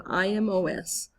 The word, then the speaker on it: imos: But in the preterite tense, those also conjugate the same with an IMOS, pronounced imos, ending.